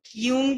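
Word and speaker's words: Jung: Karl यूंग की या Karl जंग की, जिस हिसाब से प्रोनाउंस करना चाहो, ये उसकी थ्योरी है, मैं कार्ल यूंग बोलती हूँ।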